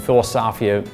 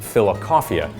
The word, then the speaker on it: Philosophia: And the way it's spelled is fill-le-sof-ee-ah, so love of wisdom but also love of coffee is the way it looks. So if you say fill-le-sof-ee-ah instead of philosophia, that's fine.